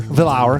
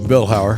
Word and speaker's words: Vilhauer: Villa Hour. God, how do you say your last name? Vilhower.